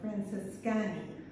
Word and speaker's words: Francescani: Although I will say, Masseria Francescana, or Francescani, I think is how you pronounce it.